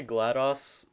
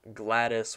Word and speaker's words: GLaDOS: I say GLaDOS more because of the fact that like it's spelled GLaDOS, not Gladys with an I or with an E.